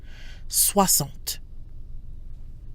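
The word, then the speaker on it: soixante: and 60s wasn't swamped notice that the X in 60 is pronounced like an S soir salt so let's look at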